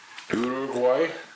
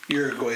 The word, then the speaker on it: Uruguay: it's pretty famous uh urugay how' I do orua oh I wasn't even close no Uruguay is how you say it in English Uruguay us Japan South